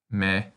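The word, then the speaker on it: み: This kana looks like a pretzel, and its sound is the same as the response you make when someone asks if you'd like a pretzel. Me.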